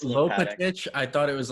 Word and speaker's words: Lopatic: My name is Lopatic. Lopatic. That's how you say it.